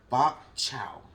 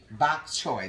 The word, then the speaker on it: bok choy: me say this right bok chow Victor how do you pronounce it bulk child bok chow bok choy that's it okay so these are the